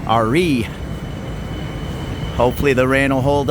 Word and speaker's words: Ari: up to re station spelled Ari pronounced re Hopefully the rain will